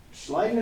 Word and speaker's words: Schleiden: Matthias Schleiden and Theodor Schwann. That's how you pronounce it.